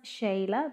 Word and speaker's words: Sheila: And so my name is pronounced Shayla, but spelled like Sheila.